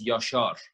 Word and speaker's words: Yashar: They pronounce it as Yashar. Yashar. Okay. Yeah, but you know, Yashar, like phonetically, it's fine. Yeah, no, I mean, it's the same in Korean.